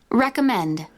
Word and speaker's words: recommend: third column with the stress on the final syllable please repeat engineer engineer DVD DVD recommend recommend recommend so it's not recommend recommend Men